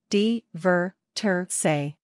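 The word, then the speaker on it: divertirse: way to describe the action of having fun pronunciation dver say whenever you want to directly say that some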